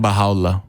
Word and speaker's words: Baha'u'llah: Let's see how much my pronunciation holds up, because it would be Farsi rather than Arabic, presumably. Actually, Baha'u'llah is in Arabic because at the time there was still an official Arabic was an official language of Persia.